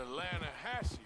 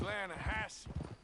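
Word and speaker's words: Lannahechee: trout you mean the lahash river no no no no no no the the lahash it runs right near here yeah but it's pronounced lass why is everything in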